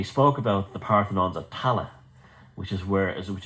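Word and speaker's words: Tallaght: in ireland and they were all buried in tala and which was mispronounced by the earth the americans as talaq because it's spelled t-a-l-l-a-g-h-t and they large and i i lived in tallah and uh for a while and this literally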